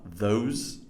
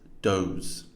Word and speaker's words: those: And these are your the and th sounds. The, this, the, those, which have been incorrectly pronounced in this text as da, dis, dose.